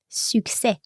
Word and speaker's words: succès: Et on ne prononce pas le S à la fin.